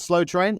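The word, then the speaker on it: Sloe Train: The band's called Slow Train. That's spelled SLOE. That's in Slow Gin, which was nice.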